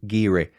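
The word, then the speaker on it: Garioch: i o c h but I'm assured it's pronounced giri number two the village is home to one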